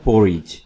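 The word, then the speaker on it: porridge: पोरिज, ये word है पोरिज, यहाँ पे डी को साइलेंट रखिएगा, दलिया, पोरिज।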